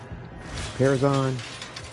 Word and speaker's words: Parazon: Is am I pronouncing that right? Parazon.